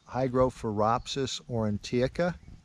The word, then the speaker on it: Hygrophoropsis aurantiaca: I'm probably going to butcher the Latin name on this, but it's Hygrophoropsis aurantiaca, or at least that's how I've been pronouncing it since I encountered the mushroom several years ago.